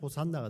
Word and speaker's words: 호산나: 구원하소서 나아가 이제입니다 오시아나 이것을 빠르게 발음하며 호산나가 되겠죠 호산나는 이제 구원하소서라는 이런